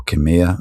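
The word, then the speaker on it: Khmer: Um, before I go any further, uh, I'd like to acknowledge the Kamair people or Kamir as it's pronounced here.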